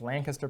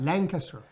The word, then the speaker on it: Lancaster: It's Lancaster, Pennsylvania. Lancaster. You're going to be showing me out all day in my pronunciations.